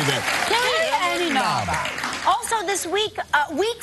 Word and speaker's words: Inaba: And from Dancing with the Stars, Carrie Ann Inaba will be here. Carrie Ann Inaba. Yeah, I how do you say that? Carrie Ann Inaba.